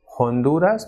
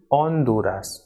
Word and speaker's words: Honduras: actually it is edge Archie is always silent in Spanish word so even though we will write this F of it by trial pronounced thing it will remain silent for example it is not Honduras what it is on Dora's and not ahora but